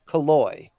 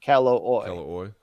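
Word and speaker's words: Calloway: He pronounces it Kaloi, even though it looks like Calloy.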